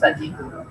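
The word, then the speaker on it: Sadji: তার নাম হলো আব্দুল্লাহ সাজিদ। বললে কি Abdullah A পি ইউ এল ওয়াই সাজিদ এস এ ডি জে, আপনি আফ্রিকান উচ্চারণ সাজিদ, আব্দুল্লাহ সাজিদ।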